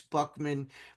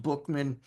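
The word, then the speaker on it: Buchman: I know it's pron it's spelled B U C HM- and looks like it's Buckman, but it's actually pronounced Bookman.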